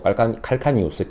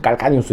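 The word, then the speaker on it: calcaneus: 영어로는 뭐 칼카니우스, 캘케니우스라고 얘기하죠. 뭐 라틴어로는 깔카니우스 이렇게 얘기를 하는데 저는 항상 깔카니우스라고 얘기를 해요.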